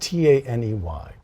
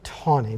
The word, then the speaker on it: Taney: roger b it's pronounced t-a-n-e-y i say tawny but other people say taney well my father sailed